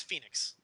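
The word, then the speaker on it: Fénix: I know we say it like the city. It's Phoenix. Okay, don't let don't let the spelling throw you off. Just Phoenix, Arizona.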